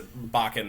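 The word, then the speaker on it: bokken: the the the we've been calling it a boken but it's a bakan is the the technical correct pronunciation the wooden training sword that you can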